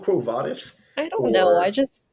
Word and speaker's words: Quo Vadis: normal well yeah because in Latin V's are pronounced like W's or they were for most of Roman history they would eventually become V's but yeah but The